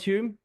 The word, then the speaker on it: Hulme: But Hume. Hume. I got it right. Yes, First you time. did. Yeah, Absolutely. My. wife pronounces it Hulme because she pronounces the L.